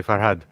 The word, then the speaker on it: Farhad: Yeah, you got to say Farhad. Farhad. Yes, I'm saying it too much like an Englishman. Yeah, you're going had. It's Farhad.